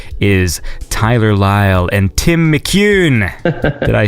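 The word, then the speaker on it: McEwan: Tyler Lyle and Tim McCune did I say it correctly that time too cute that sounded right with a very Scottish accent McEwen basically meet you McEwen McEwen McEwen yeah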